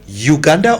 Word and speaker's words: Uganda: Do we say Uganda or Uganda? Uganda. Yes. Okay. So that's the correct pronunciation.